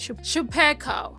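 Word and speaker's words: Chupeco: That's how that's how you say it Shapiko ko ko.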